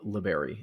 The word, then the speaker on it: Liberi: Brandon Andress, and you wrote a story titled Liberi. Am I pronouncing that correctly? Yeah, that's right.